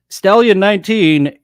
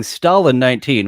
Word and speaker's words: Stallion 19: We did pronounce it right, but Stallion 19 is very open to it being Stalin 19, which it works for Italian Stallion or Italian Stalin. Before you made the change, yeah, Italian Stallion, Rocky, and Italian Stalin also makes sense as well. So both pronunciations, Stallion Stalin 19 is up to.